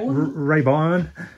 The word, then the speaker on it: Rayburn: But the good thing about Arga Rayburn, Rayburn, say it right, Rayburn.